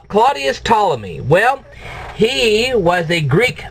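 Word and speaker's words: Ptolemy: heck was C Claudius tmy well he was a Greek mathematician who had Roman citizenship that's why he's known as Claudius tmy the P by the way is silent okay now what did Claudius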